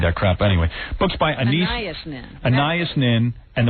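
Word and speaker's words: Anaïs: Is that how you say it? Anais, yeah.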